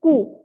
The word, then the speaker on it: coup: This is coup. P is silent. Coup.